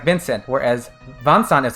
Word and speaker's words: Vincent: like van song so they're trying to go with their friends pronunciation in japanese so it becomes vansant not vincent as a point of